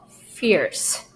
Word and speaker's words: fierce: It is an IE combination, but the first I is going to make a short I sound, it. And the next E is going to make a. So it's going to be fierce.